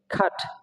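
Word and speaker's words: cart: তারপর কি আর এর পরে আবার কি আছে টি আছে, পিওর কনসোনেন্ট, এজন্য কি আর এর উচ্চারণ হবে না, কি হবে খাট, খাট, খাট।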